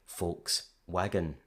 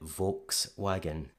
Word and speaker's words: Volkswagen: So it's perfectly rational to perceive it as something like Volkswagen. But then the spelling seems to influence that initial V, so we get Volkswagen.